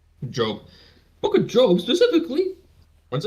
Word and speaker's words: Job: Job is pronounced. Everyone remain calm. Job.